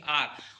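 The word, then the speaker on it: hour: late देखो यहां परस एच हमारा क्या है साइलेंट है तो इसको क्या पढ़ेंगे आर और आ आ आ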